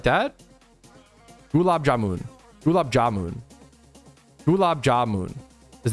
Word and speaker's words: gulab jamun: When I say Gab Jamun, I'm putting the emphasis on Gab Jamun. Gab Jamun. Gulab jamun. Gulab jamun. Gulab jamun. Gulab jamun. Is it like that? Gulab jamun.